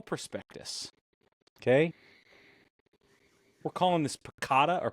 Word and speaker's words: PECOTA: this picata or picota how do you pronounce this P it's pakota pakota I don't like that I like ricot cheese that's where my brain went well it is widely accepted as pakota fine makes sense if you sound it out because they released their